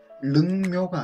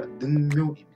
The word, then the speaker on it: 능묘: 뇌성, 루각이 아니라 누각, 릉묘가 아니라 능묘입니다.